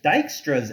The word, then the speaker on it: Dijkstra: so we could use dijkstra's algorithm this is pronounced dijkstra to find the shortest